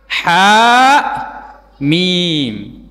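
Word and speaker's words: حم: Terputus-putus cara membacanya setiap huruf disebutkan namanya. Ha mim.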